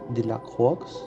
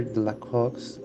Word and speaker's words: Delacroix: It was painted by the French artist Eugène Delacroix, I believe is the pronunciation, and it despises the allegorical figure of